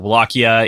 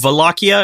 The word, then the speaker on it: Wallachia: Places call it Wallachia, or like, it's like the W that's also semi-V-ish.